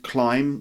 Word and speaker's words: climb: at the end it's the word climb which also has a silent B on the end climb like climb like this